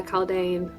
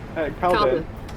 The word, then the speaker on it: Calden: Yeah, Caldane. I don't know why you keep calling that. It's weird. Shut the fuck up. Wait, how do you say his name? Calden. Calden, never any other way.